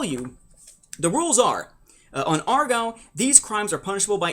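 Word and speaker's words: Aargau: the banking world of Argau, or Argo. I'm not sure how you're supposed to pronounce it. A-A-R-G-A-U. Okay, so Argo.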